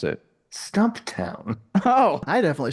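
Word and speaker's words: Stumptown: for my scattered brain I'm drinking a powerful stumpt in coffee it's the white can and it might be crack cocaine oh boy I like that you call it stumpt what how do you pronounce it stump town oh I definitely say stumpt from now on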